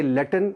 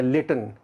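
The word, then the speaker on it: Latin: Alliteration ये लैटिन या लेटन, American English में इसको प्रोनाउंस करते हैं लैटिन, जो मोस्टली हम प्रोनाउंस करते हैं लैटिन, यहाँ पे लेटिन है ब्रिटिश प्रोनाउंसिएशन में।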